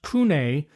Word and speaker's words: CVNE: It's all capitals, but it's actually pronounced Kune Monopole white Rioa.